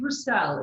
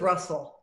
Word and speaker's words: Brussel: you you too now i pronounced your name purcell is that right i love it that way but it's not how i pronounce it i pronounce it russell okay i'm sorry so